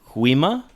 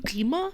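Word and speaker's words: Gwi-Ma: I think it's one of those sounds that we don't really have in the English language. Like it's like a H and a G and a K all at the same time.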